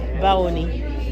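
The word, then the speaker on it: Báwo ni: Baoni.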